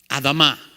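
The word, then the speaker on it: אדמה: comes from the word Adama Adama that's how you say it in Hebrew or as we would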